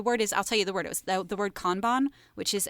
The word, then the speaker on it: Kanban: And I was like, no, it's pronounced Kanban.